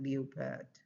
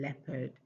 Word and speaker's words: leopard: Of course, I got leopard. And then for leisure, I got leisure. But those are not correct. The sound is e. So it is leisure and leopard and says, okay, all of those are examples.